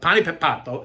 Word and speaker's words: Panepapato: It's not that easy to say, but Panepapato is how you pronounce this particular dessert.